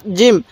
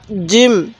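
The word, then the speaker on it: جيم: তাহলে সা জিম। সাটা নরম করে উচ্চারণ করব, জিমটা শক্ত করে উচ্চারণ করব।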